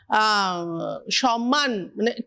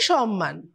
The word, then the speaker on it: সম্মান: হলো আমি সেখানে লিখেছি সম্মান এবং বানানটা লিখেছি নয়ময় আমরা ছোটবেলা স্কুলে পড়েছিলাম সম্মান মানে হচ্ছে বানানটা নয়ময় উচ্চারণ হয় ময়ময় এটা শিখেছি এক ভদ্র